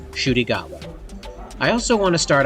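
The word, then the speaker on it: Ncuti Gatwa: for months now I've been calling him nudi gatwa I found out that that's not how you pronounce his name it's actually shy gatwa I also want to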